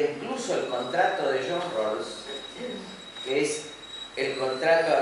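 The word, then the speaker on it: Rawls: la universidad de Harvard es John Rolls se escribe rous con w está el libro de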